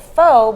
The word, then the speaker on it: pho: the place in Pittsburgh they're Vietnamese and they call it foe but I'm not sure